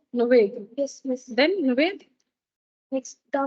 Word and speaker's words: Nuwaid: Spell பண்ணி NUW M no miss N NUWAID அப்புறம் W how do you pronounce this? Nuvaid. Nuved.